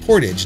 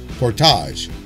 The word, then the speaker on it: Portage: Steve from Portage, Wisconsin, and that is pronounced Portage, not Portage.